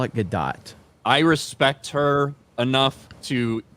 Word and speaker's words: Gadot: So yeah, you have Gal Gadot playing the it's Gadot. I call it Gadot.